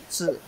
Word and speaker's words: 子: Wen zi, we keep seeing it for quite a month already, right? Wednesday, we learn Wednesday, so it's easier. This lower part is actually a little baby, pronounced as zi.